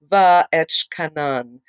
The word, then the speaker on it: Va'etchanan: Today, we're going to be covering Va'etchkanan, and actually, it is spelled V-A-apostrophe-E-T-C-H-A-N-A-N, and that is the Parashat for this week.